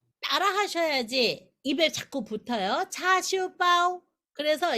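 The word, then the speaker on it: 叉燒包: 그래서 이 이름은 차시우빠오. 빠오는 빵이라고 말씀드렸죠. 차시우빠오. 제가 하는 발음을 제가 안 들려도 따라 하셔야지 입에 자꾸 붙어요. 차슈빠오.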